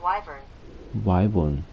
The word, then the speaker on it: wyvern: is it one can you repeat please that's pronounced wyvern can you repeat please that's pronounced wyvern why